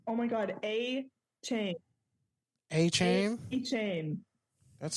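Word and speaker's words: Achane: do you say his name oh my God a chain a chain a chain that's so anti-climactic every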